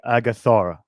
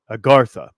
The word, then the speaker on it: Agartha: so this would become the agathara or i can't even say i never say this word right agartha there it is agartha i said it right this time so from times to